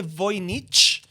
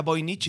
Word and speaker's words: Voynich: Sí, el manuscrito de Voynich es polaco, así que creo que se pronuncia Voynich y no Voynich, que sería alemán, pero bueno, el manuscrito, no, pero sí, no, porque tiene el nombre de un alemán.